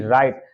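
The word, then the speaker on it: right: मतलब होगा पुत्री आर आई जी एच टी राइट राइट का मतलब होता है ठीक यहां पर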